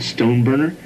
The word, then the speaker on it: Stoneburner: okay my name is stone burner and it's spelled s-t-o-n-e-b-u-r-n-e-r stone burner and i am the television production